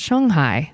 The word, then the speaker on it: Shanghai: and live in Shanghai, which is actually, I learned recently, pronounced Shanghai, I think. I'm doing that right? Yes, I am.